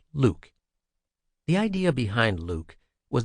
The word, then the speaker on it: LIWC: In 3 years, we finally rolled out the first version of a computer program we called Linguistic Inquiry and Word Count, or LIWC, pronounced Luke.